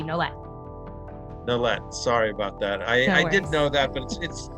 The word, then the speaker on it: Nolet: You do pronounce the T. You can imagine it as ETTE, like it's a hard T, Nolet.